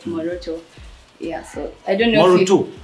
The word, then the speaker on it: Moroto: Actually, it's pronounced Moroto, not Moroto.